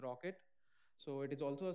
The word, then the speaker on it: rkt: from uh container d there's a one more runtime called rkt or we pronounce it as rocket so it is also